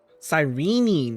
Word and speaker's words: Cyrene: Cyrene, that's how you say it.